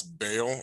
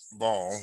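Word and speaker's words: Baal: of his mouth because it says b-a-a-l it could pronounce bail or ball by l properly ball was a title and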